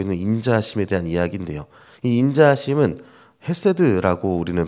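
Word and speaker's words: חסד: 그 성품은 계속해서 오늘 이야기하고 있는 인자하심에 대한 이야기인데요.이 인자하심은 헤세드라고 우리는 발음하는 히브리어 단어를 사용하고 있습니다.이 헤세드는 언약에 기초한 하나님의 신실하고 변환없는 사랑 자체를 이야기하는 것이 헤세드입니다.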